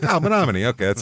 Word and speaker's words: Menomonie: Uh we are going to Monomin, Wisconsin.